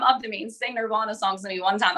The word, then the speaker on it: Nirvana: I'm pronouncing it wrong, I think. Nirvana? Nirvana.